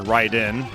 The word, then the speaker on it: Raiden: we were like whoa it looks like Raiden now I pronounce it right in but yeah so he